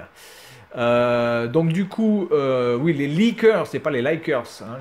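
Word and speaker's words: Lickers: Les leakers, alors moi je pense qu'on dit leakers, on dit pas likers, hein, parce que je pense qu'il s'appelle leakers, puisque ça s'écrit L-I-C-K-E-R-S, du fait qu'ils ont une grande langue, comme s'ils léchaient les gens.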